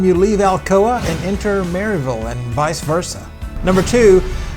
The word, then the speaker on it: Maryville: mville right she said the correct way to say it is Mayor like m a r e like a horse may v like v l not v i l l e short for Village marville marville I don't know